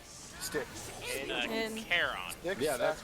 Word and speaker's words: Charon: The one that I think Chiron is the pronunciation? Sticks. In- Charon. Sticks, Yeah, that's right, Saffron, Sticks. Legathon, Reptile, And yeah, Charon. Thank you. I got a mix. Chiron is the Centaur.